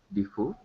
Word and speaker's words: Defoe: also the book well, the actor is Daniel Defoe, I think, that who And what?